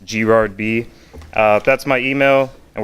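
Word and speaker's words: grardb: is gerard my twitter handle is g-r-a-r-d-b it's pronounced g-rod b uh that's my email and we're hiring and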